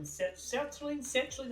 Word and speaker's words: sertraline: I was on sertraline, I forget how you say it.